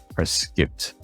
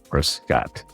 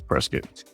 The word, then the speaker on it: Prescott: outsiders and you're visiting that city, the correct pronunciation is Prescott, not Prescott, just to let you know.